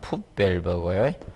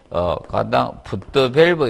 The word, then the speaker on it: 풋 밸브: 흡입관이고, 그 다음에, 이 부분을, 흡입구를, 자, 영어로 발음상은 풋 밸브고요. 그래서, 푸트 밸브 이렇게 쓰시는 분도 많죠.